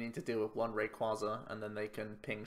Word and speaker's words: Rayquaza: board to start tackling our big old ray rayquaza apparently the RIT the correct way to pronounce it is rayquaza but I'm so used to saying Rayquaza so